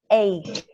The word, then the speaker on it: ache: We pronounce it ache, ache.